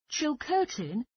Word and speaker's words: Chilcotin: which is very popular with guests on vacation chill curtin can you spell it c-h-i-l-c-o-t-i-n a local hotel where is it